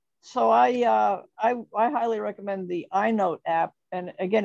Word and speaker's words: EyeNote: Yeah, I just wanted to also mention, I don't know if you're going to mention it, but the iNote app, which is spelled EYENOTE, is an app that's available from the Treasury Department.